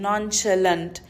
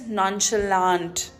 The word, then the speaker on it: nonchalant: It's the British pronunciation, nonchalant. The American pronunciation is nonchalant. It's nonchalant in America.